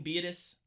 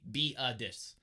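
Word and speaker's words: Biadasz: center Tyler beetus and that's actually how you say his name beetus it's got an H a silent H at the end it's B EE aah d I SH but you're gonna say be a dis so I take Tyler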